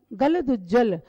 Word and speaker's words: गलदुज्जल: गलदुज्जल, गलत उज्जवल, इसमें जब विग्रह करेंगे, संधि विच्छेद करेंगे, लेकिन पढ़ना है सबको एक साथ।